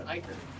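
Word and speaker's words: ichor: Technically, it's Iker. A word I was convinced for the longest time was pronounced Iker. I still know people that pronounce it Ica.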